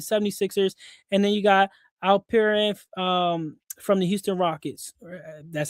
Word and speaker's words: Alperen: And then you got Alperen from the Houston Rockets.